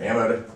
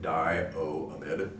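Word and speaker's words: butanediamide: e so it's butane Dio amid notice I O A all separate syllables there is pronounced Dio amid or Dio amid you sometimes see it pronounced amid or amid okay let's do one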